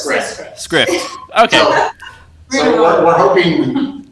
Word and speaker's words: Skrift: How do we pronounce it? We hope it's Script because we've been saying it that way. It's a Danish word. Yeah. And to be honest, we didn't hear any Danish speakers speak it.